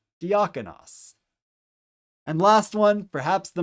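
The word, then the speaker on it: διάκονος: So the first syllable is D. The next syllable is ak, as in the alpha kappa. The next syllable is on, omicron nu. And the last syllable is os, omicron final sigma. So D, ak, on, os. Put it together a little faster, diakonos.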